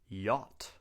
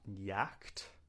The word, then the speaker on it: yacht: But most importantly, we pronounce it like yacht. Not yak, but yacht.